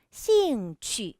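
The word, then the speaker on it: 兴趣: 차근차근 설명 드릴께요 여기 뒤에 있네요 발음의 일단 씨인 취 라고 읽어야 자세히 임명 잘 보세요 씨잉 취침 cm 취 취 발음할 때 임명 동그랗게 하셔야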